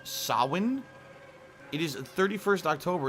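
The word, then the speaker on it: Samhain: ridiculous man angel investigation sam haynes pronounced sawin it is the 31st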